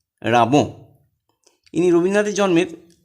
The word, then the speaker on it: Rimbaud: তোমরা রিমবর্ড এইভাবে বানান মনে রাখার জন্য এইভাবে বলবে, RIMBAUD, বলে বানান ভুল হতে পারে। Actual pronunciation রাবো।